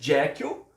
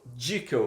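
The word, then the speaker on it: Jekyll: britânico e falava dickel tem essas duas pronúncias a gente conhece jackel né e em alguns lugares eles falam dickel pra nossa surpresa né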